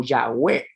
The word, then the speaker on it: Yahweh: inglés, porque recuerden que la vav en inglés va a sonar no como una V corta, sino como una doble V. Entonces va a sonar como Yahweh, Yahweh, Yahweh.